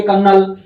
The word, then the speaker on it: colonel: कर्नल की spelling होती है COLONEL, मैं याद करवाता हूँ कोलोनेल, अब होता है ये कर्नल, ऐसे।